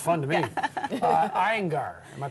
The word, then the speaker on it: Iyengar: Iyengar. Am I pronouncing that correctly?